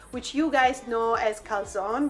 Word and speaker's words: calzone: Today we're doing my childhood and my sister's childhood favorite type of pizza, which you guys know as calzone, but it's pronounced correctly in Italian calzone.